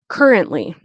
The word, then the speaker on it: currently: was not quite so currently and you'll notice that I don't really pronounce the T you could say currently